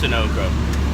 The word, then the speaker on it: Sunoco: It's pronounced Sunoco.